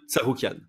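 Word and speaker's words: Tsarukyan: on on prend une décision sur fight Arman sarouan voilà voilà désolé si ça froisse des gens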